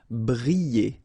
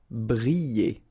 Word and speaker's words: briller: Briller. All right, so here, I and then double L, so you get the sound y, y, y. Briller. Briller.